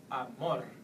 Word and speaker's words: amor: An example would be the word amor. So all you have to do is stress more. Once again, amor.